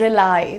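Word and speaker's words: rely: तो ये जो विश्वास करने वाला हमारा फ्रेज है, काफी कॉमन है, लेकिन this is the pronunciation is रिलाई. Okay, रिलाई ऐसे बोलना है, भरोसा करना.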